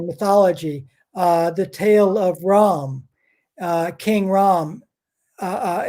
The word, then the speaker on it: Rama: name is rawan r v in sanskrit is pronounced as a w r-a-b-a-n-a one silent day at the end and ram r-a-m-a silent day at the end so you've